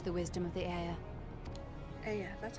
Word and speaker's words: Ea: Aya, that's how you pronounce that.